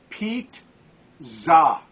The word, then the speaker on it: pizza: there it is and it even tells you how to pronounce it pronounced Pete zah so again I don't